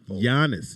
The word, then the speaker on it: Giannis: you say jonas giannis giannis you don't pronounce the g okay it's a little